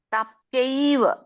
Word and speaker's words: ಪ್ರಾಪ್ಯೈವ: ಮಾಮ ಪ್ರಾಪ್ಯೈವ, ಪ್ರಾಪ್ಯೈವ ನೋಡಿ, ಪೈವ ಪೈವ ಪೈಯ ಬರುತ್ತೆ, ಪೈವ ಪ್ಯ ಬಂದು ಐ ಬರುತ್ತೆ, ಉಚ್ಚಾರಣೆ ನೋಡಿ.